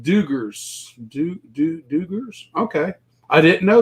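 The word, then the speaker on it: Dugges: is Blake what is our mercy brothers Oh dougies is pronounced Duggars Duggars okay I didn't know that is it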